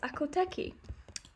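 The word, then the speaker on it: Akhal-Teke: the Carmelo Apple dick actually it's pronounced akoteki I have been saying it wrong so with the catching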